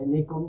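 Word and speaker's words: Nikon: ভাই তুমি শুধু দেখো এই ব্র্যান্ডের যে ক্যামেরাগুলো আছে, নিকন ভালো বা নাইকন ব্র্যান্ডের ক্যামেরা যেটাই উচ্চারণ করেন, শুধুমাত্র এই ব্র্যান্ডের ক্যামেরাগুলোকে তুমি ম্যাচ করে আমাকে রেজাল্ট দেখাও।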